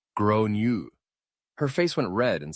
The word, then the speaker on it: Gráinne: She asked what I meant and I said, "Well, in Ireland, they typically pronounce it like grown."